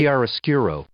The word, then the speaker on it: chiaroscuro: It's oh yeah, I'm pronouncing it wrong. Nilbog is telling me it's Chiaroscuro. it's woo hi. Chiaroscuro.